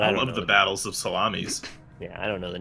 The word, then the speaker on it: Salamis: Battle of Carrhae, Battle of Esculum, Battle of Telamon, and the Battle of Salamis. I just want to say it's actually Salami pronounced salamis.